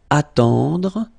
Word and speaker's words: attendre: Then attendre, attendre, remember final you don't insist on it, it just gives you the possibility to pronounce the dr, dr, okay, so attendre, attendre, alright, and it's to wait.